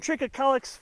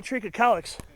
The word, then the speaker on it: trichocalyx: I mean, no, Areodictyon trichocalyx, variety trichocalyx.